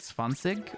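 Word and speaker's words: zwanzig: speak swis but I know in German it's like swansig right for 20 so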